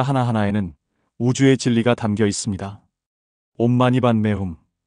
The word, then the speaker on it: 옴마니반메훔: 온마니반매훔. 이것은 티베트어로 온마니 파드메훔이라고 발음되는데 한글로는 옴마니반매훔으로 널리 알려져 있습니다.